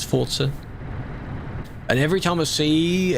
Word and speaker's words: Forza: Get used to calling it Forzer. Cuz that is how it's pronounced. Is an Italian word. The devs say it's Forza.